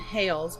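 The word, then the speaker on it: Hailes: little girl there was a restaurant there named hails but it's spelled h-a-i-l-e-s so i thought that was kind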